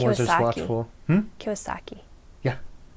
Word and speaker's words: Kiyosaki: Kiyosaki. Yeah. Kiyosaki.